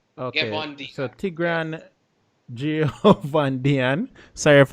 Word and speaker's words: Ghevondyan: I can't pronounce it again. Ghevondyan. Okay. Ghevondyan.